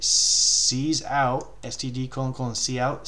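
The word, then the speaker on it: cout: out STD colon colon see out see out that's how we we say it like SE dash out it's seeing out hello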